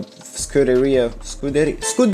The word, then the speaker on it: Scuderia: The statement also added that the FIA and the Scuderia Ferrari, you gotta pronounce it like that, have agreed to a